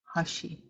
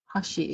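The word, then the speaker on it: hʋshi: you have the word Hashi Hashi is the term that means sun or month Hashi is the term that means sun or month spelled with the V pronounced with the a sound okay the other word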